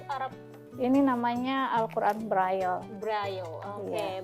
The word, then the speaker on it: Braille: Braille. Oke, Iya.